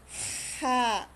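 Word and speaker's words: ح: VR VR ha ha ang pagbas nito ay pagpalabas ng tunog mula sa gitna ng lalamunan ha ha Para kang hinihingal ' ba pag hinihingal ka sa kakatakbo gaganon ka pero yung tunog niya hindi galing sa diaphragm hindi galing sa dibdib hindi galing sa tiyan kundi ito ay nanggagaling sa lalamunan ganon Okay ha next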